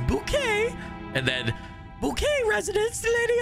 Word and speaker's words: Bouquet: I just did uh it's not bucket it's bouquet and then bouquet residence